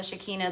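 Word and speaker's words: Shekinah: her third eye the shakina the shakina I say shakina but you'll hear it pronounced differently the shakina the shikina the the shakina it's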